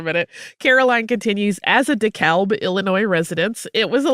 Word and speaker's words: DeKalb: Here we pronounce the L, so it comes out sounding like the crossword puzzle word for a white vestment worn by clergy.